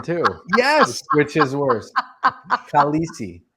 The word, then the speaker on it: Khaleesi: Khaleesi. Khaleesi, not Carlisi. It's important to say also that I didn't learn English when I was young.